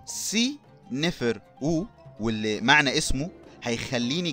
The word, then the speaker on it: سنفرو: او السمكه الغاضبه والملك سيفر او اللي احنا بنقول عليه سنفرو سي نفر او واللي معنى اسمه